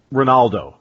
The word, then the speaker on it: Ronaldo: you're looking at uh Ronaldo not even just Cristiano but uh say o phenomeno and uh in Brazil and in Portuguese the r is pronounced almost like an H when it's at the start and they also have